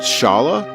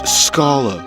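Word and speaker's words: Schala: is it is it is it shala? No. Why would you? It's Scola because it has an SC c.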